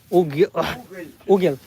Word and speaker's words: уголь: So because it has a soft, this is a soft this is the soft sound for Russians. I can't pronounce this L. It's a little bit difficult for me. This is a soft L.